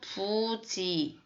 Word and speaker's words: 부지: 자, 여기서는 부지, 여기서는 불능. 똑같은 한자인데 달리 읽었어요.